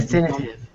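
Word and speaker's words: Deathinitive: death definitive Definitive addition definitive like the th is pronounced like an F def definitive wow addition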